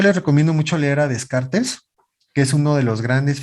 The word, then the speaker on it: Descartes: él debe su nombre a descartes o de carta como también se pronuncia y él tiene un